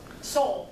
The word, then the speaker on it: Seoul: which is hilarious because my cousin was born in America and she's lived in Seoul, I'm gonna butcher the names. It's Seoul, that's it, Seoul, South Korea.